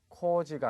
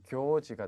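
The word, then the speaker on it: 行事: 자, 여기 나오는 행사 발음 주의를 하셔야 되겠죠. 코지가 아니라 교로 읽으셔야 됩니다. 그래서 교지가 되겠죠.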